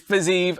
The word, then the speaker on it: Fiziev: Rafael dos Anjos against Rafael Fiziev, or Rafael Fiziev. I called him Fiziev, but I got the pronunciation all right. It's Fiziev, apparently.